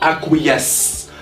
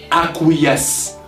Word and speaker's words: acquiesce: That's how we spell it, acquiesce, acquiesce, acquiesce. It's like 3 syllables.